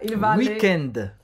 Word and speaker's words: week-end: E a pronúncia é bem afrancesada. Week-end.